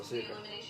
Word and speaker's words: Asuka: Lioness Asuka. Asuka, sorry. Her name's actually pronounced Asuka.